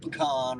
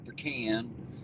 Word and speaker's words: pecan: Some people call it pecan or pecan. I've always called it pecan. Just put the stress on a different syllable there.